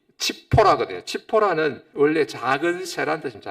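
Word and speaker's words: צִפֹּרָה: 잭째거리던 시보라가 없으니 갑자기 온 세상이 조용해졌습니다. 정막감이 됩니다. 이보라 시보라 원래 발음이 치포라거든요.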